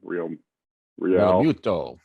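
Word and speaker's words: Realmuto: Real Muto.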